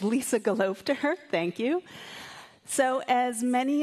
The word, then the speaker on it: Gelobter: it when people do not know how to pronounce my name that is the correct approach it's lisa golov to her thank you so as many of you know